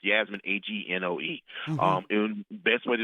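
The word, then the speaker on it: Yasmin Angoe: a book called Her Name is Night by Yasmin Agone. I'm pronouncing it wrong. It's Yasmin, Agnoe.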